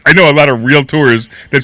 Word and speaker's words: realtor: and i became a realtor taking a class in one of these how do you say real tour it's not really tour uh if you say